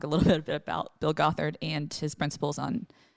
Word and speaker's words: Gothard: Gothard.